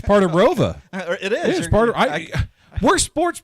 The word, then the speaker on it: ROWVA: after I graduated but it's always been pronounced as Roa so what was the